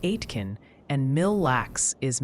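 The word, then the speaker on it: Aitkin: Oh, and a little birdie or several hundred chatters mentioned atkin is more like atkin and mil lax is mil lax.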